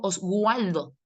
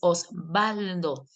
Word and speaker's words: Osvaldo: Pero yo no digo osualdo, sino que dices Osvaldo. Y a veces la doble u suena como b.